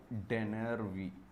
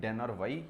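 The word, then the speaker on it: Dennerby: Thomas डेनरवी। जो भी आप प्रोनाउंसिएशन करना चाहें वो कर सकते हैं, डेनरवाई या डेनरवी।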